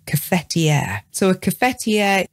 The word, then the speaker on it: cafetière: t i e with an accent r e catier so a cfer its job is to keep